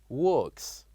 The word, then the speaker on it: works: we have which is works works and if you listen carefully you will see the end of this word ends with the sound of s s like in works works and finally this